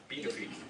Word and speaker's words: Pituffik: B-do-feet. See, I Googled it, I saw it, just didn't hear it. F-U-K. Pituffik.